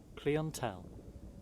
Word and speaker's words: clientele: Clientele is apparently the American pronunciation when clientele is the British pronunciation.